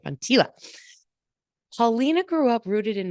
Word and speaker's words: Von Teela: Said it right, Von Teela.